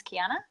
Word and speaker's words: Kiarna: All right, so tonight we are going down and deep and dirty with the gorgeous Kiarna. Am I saying it right? Yes, you are.